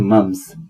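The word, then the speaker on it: mumps: जैसे मजल्स और मम्स मम्स की स्पेलिंग में एम यू एम पी एस आता है पर पी साइलेंट है इसलिए उसे पढ़ा जाता है मम्स जैसे पी है ही नहीं तो मीजल्स हो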